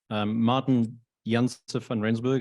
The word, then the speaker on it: Martin Jensen van Rensburg: you Martin good morning Martin Jensen van rensburg will pronounce it as I do from where I'm from originally from South Africa I've been in Singapore